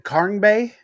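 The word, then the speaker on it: Sumo-Karngbe: It's Karngbe. Is Karn? Yeah, Karngbe.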